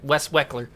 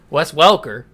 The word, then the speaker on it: Wes Welker: he used to say that, he used to pronounce his name like that, Wes Weckler. Wes Welker is how it's really pronounced, has retired as well.